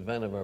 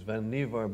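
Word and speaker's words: Vannevar: was where he read the canonical article by van niever bush most people pronounce it van over but it was vanivar bush as we may think which ran first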